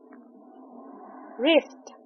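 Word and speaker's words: wrist: डब्ल्यू ई के बाद जो टी है वह साइलेंट है। हम इसे कहेंगे Wednesday रिस्ट डब्ल्यू आर आई एस टी रिस्ट इसमें डब्ल्यू साइलेंट है।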